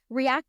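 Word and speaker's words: R3ACT: my online program so react is spelled a little differently it's spelled r with the number three a c t so when you look at it it is react but the R3 is there on purpose SO3 stands for my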